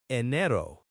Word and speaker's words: enero: The the E at the beginning is like the A in bed, right? Not a long E sound. Precisely. Short E. Nero. And remember the R in Spanish is often a single tap. A soft R sound, not the hard R we often have in English.